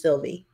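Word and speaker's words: Sylvia: And hey, I have an aunt whose name is spelled S-Y-L-V-I-A, and she's Sylvie. There she was.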